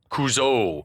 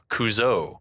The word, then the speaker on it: Couzo: then he pronounces it Couzo. And it was at this moment that we realized that the decision had been made at some point to accent the final vowel, Couzo.